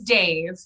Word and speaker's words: Dev: So like Dev is like an anglicized version of the name.